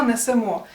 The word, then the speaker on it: несемо: присудок підемо до речі зверни увагу що всіх дієсловах які закінчуються на емо наголос на останній склад наприклад Ідемо беремо веземо несемо Я знаю що звучить незвично але насправді це так якщо не віриш То